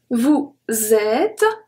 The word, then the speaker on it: vous êtes: Then we have nous sommes, ES, not pronounced. Vous êtes, ES, not pronounced.